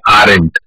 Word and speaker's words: aren't: पढ़ने में आर और नॉट अलग है और कॉन्ट्रैक्टेड वर्जन का प्रोनाउंसिएशन यानी कि उसका उच्चारण भी अलग है. आर नॉट बनता है aren't.